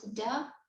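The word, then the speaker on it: до: consists of two words the first one is do which becomes da when when you put them together like this because the or here is not stressed it's it's a phrase that we pronounce like one word together right so this door which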